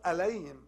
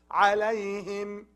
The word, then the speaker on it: عليهم: عليهم also, not عليهم. عليهم is wrong. It's from throat. عليهم.